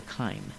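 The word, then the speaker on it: chyme: uh the chime or not the chime the Kime it it's spelled CH H ym but it's pronounced Kim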